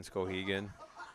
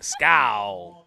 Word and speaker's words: Skowhegan: Is your dad the loudest man in Skowhegan? Skowhegan. Yeah. I love how you say Skowhegan. Right? Scow. You got to do you say scow.